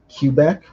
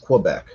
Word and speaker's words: Quebec: um pmice is actually i pronounced it letter q back q back no it's just quebec quebec and you know i